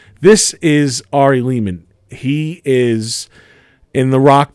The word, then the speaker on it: Lehman: When I heard DemonScar for the first time, I'm Ari Lehman, rhymes with demon.